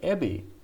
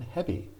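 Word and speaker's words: へび: my japanese friends and i was using the word ebby rather than heavy and my japanese friends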